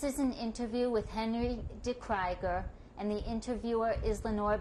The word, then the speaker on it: De Kryger: How is your name pronounced at home? De Kryger.